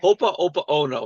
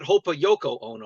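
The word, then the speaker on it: Ho'oponopono: Oh, the Hopa Opa Ono prayer. Hopa Opa Ono, not Hopa Yoko Ono prayer.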